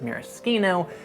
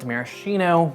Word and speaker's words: maraschino: This is Luxardo Maraschino liqueur, the signature product out of Luxardo, besides, of course, their cherries. And yes, to answer the question already, it's pronounced maraschino, not maraschino, because it's Italian.